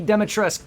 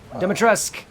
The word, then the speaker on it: Dimitrescu: Lady Dimitrescu, just like Zamas's name, her name doesn't pronounce the U. Dimitrescu.